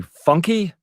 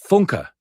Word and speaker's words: Funka: So then Bethany Funky, he pronounces it funky, but Bethany corrects him. Funka, she says. Funka.